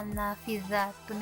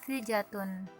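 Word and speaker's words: نافذة: yang salah dalam pengucapannya yang seharusnya naafidzatun itu menggunakan huruf dza tapi siswa tersebut menggunakan huruf Jim jadinya Nah si jatun Nah dari sini guru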